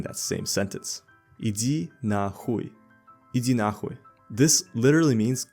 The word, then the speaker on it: нахуй: It's pronounced as иди нахуй. Хуй. Not хой.